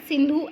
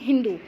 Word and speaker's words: सिंधु: है, pronunciation Sanskrit word सिंधु एज हिंदू। अगर Persian की बात करें तो वो जब उच्चारण करते हैं संस्कृत भाषा के सिंधु का, तो वो क्या बोलते हैं? हिंदू बोलते हैं सिंधु को।